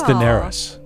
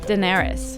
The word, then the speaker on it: Daenerys: character happy face i mean if they can pronounce dianae's targaryen they sure should pronounce charlie zumarradi in full hd i think it's daenerys daenerys did you not watch game of thrones i